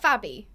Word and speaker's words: Fabi: So is that Fabi? Or Fabi? Yes. Fabi, yes, okay. That's my nickname. Awesome, that's a cool nickname. It's like Abby with an F.